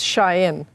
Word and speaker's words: Shein: Oh, so that's how you pronounce it. It's Shein.